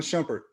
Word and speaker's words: Shumpert: talented shumpert in the family and am i pronouncing your last name correctly yep shumpert yeah i thought so and any of you